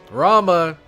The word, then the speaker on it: Rama: god or goddess, but I'm pretty sure many of the gods whose names end in A, you don't pronounce the A. So it wouldn't be Rama, it'd be Ram.